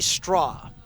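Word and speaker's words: Strauch: Kind of a unique spelling. It's straw, but it's spelled S T R A U C H.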